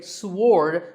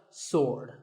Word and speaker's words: sword: about this word sword many people say sward but that is totally wrong it's just sword and here's one last